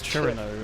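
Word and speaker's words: Cirno: Well, yeah, it's, you wouldn't imagine it's Chirino unless you know it's Chirino.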